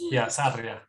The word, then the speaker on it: Sarria: I was born in Colombia, so if you want to pronounce it in Spanish, it's completely different. I got to roll my R's. Yeah, Sarria. There we go. But hi, everybody. My name is Sarria.